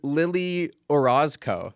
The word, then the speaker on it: Lili Orozco: of an odd time uh today's guest is Lily Orosco did I pronounce that right yes that's right I got